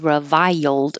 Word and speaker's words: reviled: disrepute reviled it's not exactly three syllables reviled but when you go high for the I revile then you slide down and make it it'll make an accidental Y and hold that final D reviled voila this is